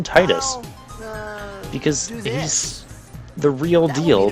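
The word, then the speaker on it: Tidus: that and you know people call them tedious or official pronunciation being tedious I don't care about official pronunciation I call them Titus because this the real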